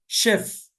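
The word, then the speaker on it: chef: machine, machine, ٹھیک ہے، مستیش، مستیش، مستیش، موچ، شیف، اسی طریقے سے شیمپین، شیمپین، فرانس کی ایک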